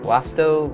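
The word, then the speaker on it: vasto: This word is easier to remember if you pronounce the word with this V as that W sound. That's how most Latin words are supposed to be pronounced, but it helps you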